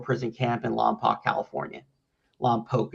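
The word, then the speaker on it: Lompoc: Lamp Poke is how they pronounce it there.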